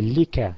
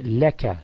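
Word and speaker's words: لك: for pronunciation purposes only, the kasra on li, we will change it into a fatha and say la. So you say laka, meaning belonging to you.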